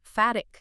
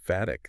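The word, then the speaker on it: phatic: In linguistics, it's sometimes called fhatic communication. Fatic. That's a new one for me. How do you spell that?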